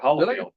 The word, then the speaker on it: Holfield: addict is holfield I'm not pronouncing your last name no you go right holfield hfield okay you think after all